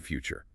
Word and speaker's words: future: They They want to read them phonetically based on the letters on the page. Yeah, exactly. To hit that ch- sound, the phone there, your mouth has to physically flex.